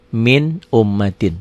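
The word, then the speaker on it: مِنْ أُمَّةٍ: Min ummatin. Tanpa ditekan, tanpa ditahan. Tapi dibacanya jelas.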